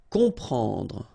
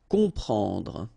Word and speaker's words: comprendre: You've got OM, and after that you've got a consonant, so you will get the sound on, nasal, okay? You don't hear any M here, okay? It's on, comprendre.